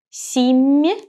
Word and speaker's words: семья: Soft sign shows me that the sound M is soft. So I raise my tongue closer to the hard palate when I pronounce this M. So it becomes me, me. Семья.